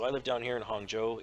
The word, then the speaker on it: Hangzhou: live down here in Hangzhou if you were to read that probably just as an English speaker you probably read it as like hangjo or something yeah I mean if